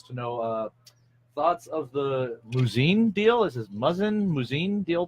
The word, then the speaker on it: Muzzin: know thoughts of the Muzzin deal. Is this Muzzin deal to Toronto? You know anything about that? Yeah. Did I pronounce it correctly? Is it Muzzin? Muzzin. Okay. Muzzin. Pronounced like it sounds.